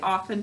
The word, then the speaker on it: often: Everyone who remembers, tell me, how do we say often to spell it? Often. All right, we have a silent letter in there. We say often to spell it. Often.